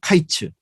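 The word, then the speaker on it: קיץ: 그러니까 여름 과일은 카이츠 끝이 됐다는 것은 캐츠. 예. 그래서 모음 하나를 빼고 그 자음이 다 같아요.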